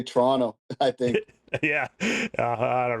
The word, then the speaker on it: Toronto: Apparently, you're not supposed to pronounce that second T in Toronto. So, Toronto. Yeah. Yeah. Yeah. Yeah. Toronto. Some people just say Toronto, I think.